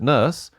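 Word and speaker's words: Nourse: The original book that used the title Blade Runner was by this guy, Alan Norse. I pronounce it Nurse.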